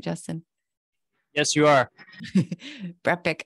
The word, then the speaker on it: Brepic: Brepic. I didn't know it was Brepic like Breen, but and his exclusive connectivity platform, which is the Brepic Network.